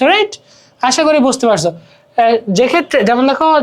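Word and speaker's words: যক্ষ্মা: তারপরে সাধারণত যুক্ত বর্ণের সাথে কোনো ফলার উচ্চারণ হয় না, যেমন যক্ষা, বন্দ্যোপাধ্যায়, এই যে দেখো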